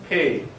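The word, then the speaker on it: פ: 점이 찍힌 것이 발음이 다른게 아니고 어쨌든 그러나 우리가 볼 때는 점이 찍혀 있으면 어 우리 말읍처럼 페이라고 발음을 하시면 되고 역시 마찬가지로 점이 없으면 연하게 발음을 해야죠.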